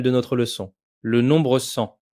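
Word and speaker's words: cent: Il ne nous reste plus qu'à découvrir le nombre final de notre leçon, le nombre 100. Le t final est muet. On prononce le son an comme dans maman.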